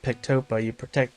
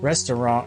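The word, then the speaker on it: Ресторан: you don't pronounce it Pectopa. You pronounce it restaurant in Russian, but Pectopa is the way it looks like in the Roman alphabet.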